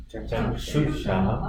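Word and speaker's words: चक्षुषः: In this case, both of them are capital S. I think it's capital S. The second one is also capital S. Chakshusha. Chakshusha. So both of the times the tongue has to twist upwards.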